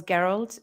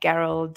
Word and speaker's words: Geralt: I think I read a meme somewhere like there was Geralt, and he said, like, the meme said, "Oh, shit! Now, all the kids, boomer kids, will be named Yennefer and Geralt and whatnot."